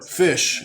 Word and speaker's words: Ghoti: the deck inherently plays goatee or fish as apparently it's pronounced but for the purposes of this video i'm going to continue to call them goatee um like to be